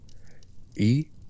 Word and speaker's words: Ereshkigal: They are 3 syllables. Ereshkigal, 4 sounds which the tradition compresses into a name and which scholars of Sumerian have parsed carefully, separating the syllables back into the words from which they were made. Eresh, meaning queen or lady, Ki, meaning earth or land, or the ground beneath everything, and Gal, meaning great.